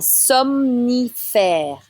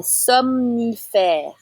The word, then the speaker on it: somnifère: Un somnifère. So you need to say both the M and N right after the other. Un somnifère.